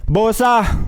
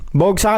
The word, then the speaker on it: Bogsa: Uy nga pala ano bosa bosa with silent g. Mm. May silent G pa. Bogsa kasi yun eh. Pag inano mo ini-spell mo eh. B O G S A e silent G.